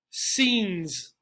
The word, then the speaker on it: scenes: If you said one syllable, you are correct. Scenes. Scenes.